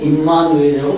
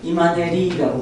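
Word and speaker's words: Immanuel: 지금도 중국 사람들은 임마누엘이라고 발음하지 못해요. 뭐라고 발음하죠? 이마네리라고 발음해요.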